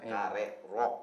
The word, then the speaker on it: Karerok: Kare rock. Harusnya bacanya kare rock.